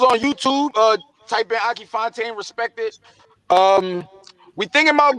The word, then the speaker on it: Fontane: That's Fontane. Akee, Akee. For those illiterate folks out there, that's how you spell it.